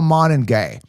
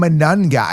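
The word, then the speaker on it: Monangai: Devin Achane, Managai, Monangay, the way to pronounce it is Kyle Monangay, right? They're calling him Manungai.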